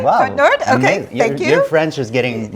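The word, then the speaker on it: Côte-Nord: Describe like you're growing up in Kot Nord. Yeah. K. Say it right. K Nord.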